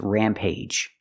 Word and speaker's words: rampage: the first one is Rampage use a long a sound plus J the hard J sound like juice and jump Rampage it's like when